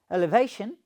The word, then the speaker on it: elevation: Okay, it's pronounced as elevation. So the stress is there at bha sound.